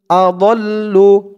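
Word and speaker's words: أَضَلّ: আদল, লাম পেশ লু, আদল্লু। এখানে দেখুন থামার জন্য একটি জিম চিহ্ন দিয়েছে, তো আমরা এই জিম চিহ্নতে যদি থামি তাহলে এখানে আমাদের উচ্চারণ করতে হবে বাল হুম আদল, বাল হুম আদল, এরকম ভাবে উচ্চারণ করতে হবে।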